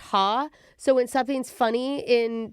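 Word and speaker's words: ห้า: In Thai, you say five is pronounced ha.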